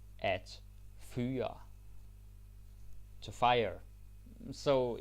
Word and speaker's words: fyre: At fyre. At fyre. To fire. So it's easy, right? Because it rhymes. Hyre, fyre, hire, fire.